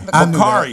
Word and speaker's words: Bakari: How do you pronounce it? Is it Bakari? Bakari. Bakari.